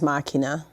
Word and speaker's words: Machina: Oh, it is Machina.